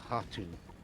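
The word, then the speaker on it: Khatun: And the other word is pronounced, I believe, Hatun. The K Hatun? is silent.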